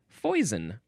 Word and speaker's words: foison: That fo was fo. Now we have poison. I thought this would have been pronounced fon because it looks very French. Um, but it is spelled pronounced foison.